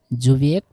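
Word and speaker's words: Subjekt: যদিও জার্মানির এইটার উচ্চারণ হবে হচ্ছে কি জুবিয়েক্ট প্লাস ভার্ব, জুবিয়েক্ট মানে কি সাবজেক্ট কি ইক, ঠিক আছে।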